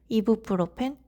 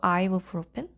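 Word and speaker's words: ibuprofen: 콜라겐도 콜리젠, 이브로펜도 아이브로펜, 이케아는 아이키아라니.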